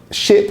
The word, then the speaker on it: ship: Now, ship has that short I sound, sheep has the longer E sound.